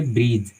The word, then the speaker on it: bridge: तो हम इसको ब्रिज नहीं पढ़ेंगे, हम इसको पढ़ेंगे ब्रिज, और ब्रिज का मतलब पुल होता है।